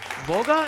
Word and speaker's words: Vouga: Brands 2023 winner, Vouga. Am I saying it right? Vouga? you hit it right on the head, and Yeah.